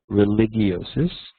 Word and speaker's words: religiosus: In Latin, there's no hard G. I learned from years of high school Latin. So it's homo religiosus, or religious man.